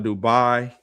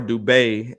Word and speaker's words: Dubai: Based out of Dubai or Dubai, as the proper way to say it. I learned from one of my clients that's from Syria.